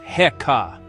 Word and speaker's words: Heka: The word is heeka, pronounced heekkah.